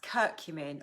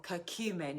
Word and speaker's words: curcumin: to depression, and that's curcumin or curcumin. It's pronounced in different ways, not in the Lancet